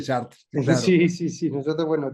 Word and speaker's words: Chartres: que lo pronunciamos bueno lo escribimos chartres en España decimos chartres pero se lee sh no es una cal los franceses dicen chartar Sí sí sí nosotros